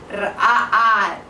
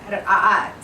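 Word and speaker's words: رقاقات: Now in Arabic they're pronounced ra'at. It's a little bit difficult to say. It's spelled R-A-K-A-A-T, but it's pronounced ra'at.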